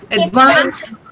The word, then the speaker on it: advance: Then advance. Running. Advance. Okay, where's the stress? On vance here.